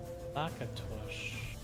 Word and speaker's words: Lakatos: Yeah, it's Hungarian, I think, so it's Lakatos. Lakatosh.